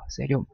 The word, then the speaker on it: 세륨: 이거는 세륨이라고 읽어요. 세륨.